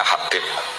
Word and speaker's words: Habib: Itu di harokatnya kitab itu ada yang nulis Hubeb. Yang benar, oh enggak, yang benar itu bacanya Habib.